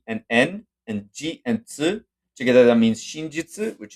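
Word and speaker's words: つ: But this you just pronounce it tsu, and you say ti, you say chi, actually, and si is she.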